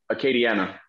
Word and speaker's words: Acadiana: of lafayette arcade uh uh how do you pronounce it arcade k deanna katie acadiana katie yeah so that's like uh yeah so